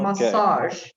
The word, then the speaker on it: massage: version measure massage massage oh this one is difficult massage good this is the same one as a genre the same one oops